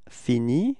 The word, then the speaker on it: finit: Okay, so you can see that for je, tu, il, and elle, it's actually the same form you pronounce, but then you write them differently.